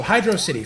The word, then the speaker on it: Hydrocity: But yeah, so Hydro City. First off, the most obvious one, it's all one word. All one word. They didn't spell it Hydro City, they spelled it Hydrocity. Rhymes with velocity.